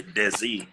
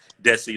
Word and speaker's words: Dessie: name up too, because my name is Dessie, but people put Z's. They say Desi all the yeah. time. So usually when I meet people, I try and make sure I say it right. Dessie, like Jesse, so that way it kind